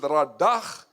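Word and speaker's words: רָדָה: You pronounce it radach, meaning, listen carefully, to rule, to subdue, to tread down.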